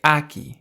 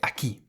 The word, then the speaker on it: aquí: So you emphasize that part of the word more aki. You don't say aki. You say aki.